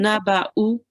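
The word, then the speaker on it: نَبَأُ: naba'u. Naba'u. Very nice. And again, why do we not read the vowel? you ignore the wow and you pronounce the hamza with the dhamma on top.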